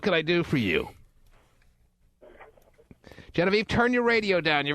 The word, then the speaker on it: Genevieve: It's Genevieve.